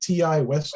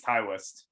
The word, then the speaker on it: Ti West: how to pronounce it is it ti west yeah i think it's taiwas yeah i'm gonna say thai west like i've been saying but um you would